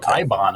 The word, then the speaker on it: Eibon: That's a famous fictional book, and they pronounce it Ibon in the movie.